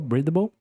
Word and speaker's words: breedable: É assim que você pronuncia essa palavra. Breedable. Breedable. Perfeito. E aqui você já tem uma um norte, ó. Breedable. Breedable. Já termina com som de L também.